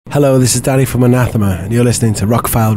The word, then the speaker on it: Anathema: The official pronunciation is Anathema. Anathema. Anathema. Got it. But I prefer any of the other 5 pronunciations that I've heard. You know, in the South they say anathema.